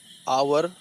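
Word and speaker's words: hour: जैसे आवर, honest, आवर लिखा हुआ है यच से, यच ओ यू आर, लेकिन प्रोनाउंसिएशन क्या होता है इसका, आवर होता है, आवर प्रोनाउंसिएशन होता है।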